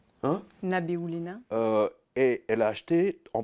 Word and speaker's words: Nabiullina: Je n'arrive jamais à prononcer son nom. Elvira. Nabiullina. Hein? Nabiullina.